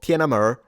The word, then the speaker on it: Tiananmen: I wonder if they are in Tiananmen or Tiananmer as I've heard it say they they do some of them do pronounce men as a mer.